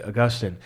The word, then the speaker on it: Augustine: man in the world Augustine uh or as many Americans say Augustine uh but because I